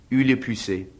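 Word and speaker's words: Hugh le Puiset: I have been asked to come to Durham to educate you ignorance on how to pronounce the name of the Right Reverend Father in God, Hugh Le Pucet, by the Lord's providence, Lord Bishop of Durham.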